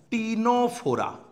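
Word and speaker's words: Ctenophora: তাহলে ফাইলাম নিডারিয়া, আরেকটা হলো ফাইলাম বা পর্ব টিনোফোরা। ইংলিশ স্পেলিংটা একটু খেয়াল রাখবে, এগুলো সি দিয়ে শুরু, সি সাইলেন্ট ওয়ার্ড, টিনোফোরা। এই দুটোই কিন্তু সি সাইলেন্ট ওয়ার্ড, একটা নিডারিয়া আর একটা টিনোফোরা।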